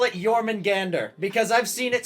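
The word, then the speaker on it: Jörmungandr: Jormungand, you say? Jormungand. It is pronounced Jormungand. Jormungand. There's an R at the end of it.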